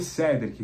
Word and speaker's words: Cédric: Pelo que eu entendi, a pronúncia vai ser Cedric. Com certeza os colegas vão perguntar na coletiva, mas a tendência é de ser Cedric Soares e não Cedric, como a gente tem falado.